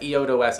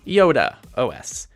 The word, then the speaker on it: IodeOS: duopoly and that's what eodo is trying to bring to the table yes people I embarrassingly called it eodo the entire review without bothering to look up that it's actually pronounced Yoda OS but if you just